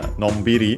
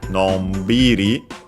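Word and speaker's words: のんびり: adverbs ending in ri, usually accented on the syllable before the ri, so on the b, in this case, nonbiri, nonbiri. By the way, notice that the n before b is pronounced then as m, of course, because b is bilabial, and so also the nasal becomes bilabial, and so m.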